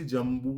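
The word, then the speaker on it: জম্বূ: সেবিতা copy জজম্বুলাসার ভক্ষিত আবার এখানে কিন্তু বলছি জাম্বু দেখুন দীর্ঘ উ এর মাত্রা আছে আমরা বাংলায় কথা বলার সময় কিন্তু রস উ বা দীর্ঘ উ এত যত্ন নিই না সংস্কৃতে বলার সময় কিন্তু এই রস এবং দীর্ঘ উরস ই দীর্ঘ ইকার ঐকার ওকার ঔকার প্রত্যেকটিকে অত্যন্ত যত্ন করে আমাদের উচ্চারণ করতে হবে।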